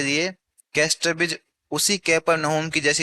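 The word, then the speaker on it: Capernaum: कुछ लोग इसे कफरनम पढ़ते हैं। लेकिन असल में यह क्या है? इसका उच्चारण कैपरनम है।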